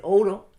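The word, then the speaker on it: Ouro: So if you pronounce it, it's said quickly, it says oro. It sounds the same as oro.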